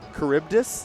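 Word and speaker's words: Charybdis: Charis I've never once figured out how to pronounce that cibus caribdis yes caribdis I guess that makes sense the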